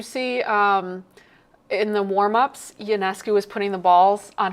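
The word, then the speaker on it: Ionescu: How do you pronounce Sabrina Yanescus? Yanescu or Yianescu? I say Yanesco.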